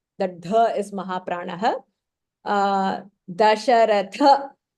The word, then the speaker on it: दशरथ: Dasharatha, tha is Mahapranah.